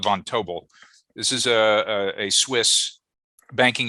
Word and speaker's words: Vontobel: of signed agreements with we think it's pronounced Vontobel, but it could be Vontable. There was somebody in our office the other day who called it Vontable, but I'm going to call it Vontobel.